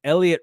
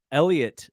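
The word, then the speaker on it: Heliot: pronounce it his name Elliot Ramos uh silent h not silent T I think I was I think I was I was hard H and Silent teeing his name but it is Elliot as far as uh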